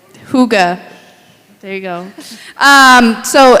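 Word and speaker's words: hygge: Um and the Sunday in between or the Sunday after 12:28 we're going to um have some Higa community. I I'm saying it wrong but Huga.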